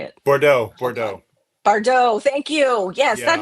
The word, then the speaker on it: Bardot: Bardot. Thank you. Yes, that Yeah, is the that's it. correct I had pronunciation to of hear that you say it word.